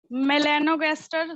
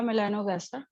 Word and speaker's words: melanogaster: Drosophila, अच्छी बात ये है कि जैसे प्रोनाउंसिएशन है वैसी स्पेलिंग है। देखिए ड्रोसोफिला DROSOPHILA, ये तो सीधा साधा है, ठीक है, ड्रोसोफिला हो गया। मेलानोगास्टर तो यहाँ पे MELANOGASTER, आसान हो गया, ड्रोसोफिला मेलानोगास्टर, ठीक है।